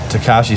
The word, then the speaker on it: Tekashi: Takashi 6. No, Tekashi 6ix9ine.